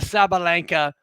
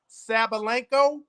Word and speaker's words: Sabalenka: However, Aryna Sabalenka is a pro.